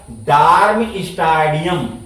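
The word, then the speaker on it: Darmstadtium: state लिख दिए बच यहां टी साइलेंट होता है टी लगा देंगे और इसके बाद ईम जोड़ देंगे ईम आई यू एम जोड़ देंगे और यहां ध्यान देंगे टी साइलेंट रहता है तो बताइए इसका नाम क्या हो जाएगा डर्म स्टेडियम क्या लिखेंगे डर्म स्टेडियम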